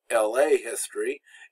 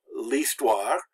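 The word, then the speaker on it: l'histoire: like this one so that's why it's not la history it's least wah and we just kind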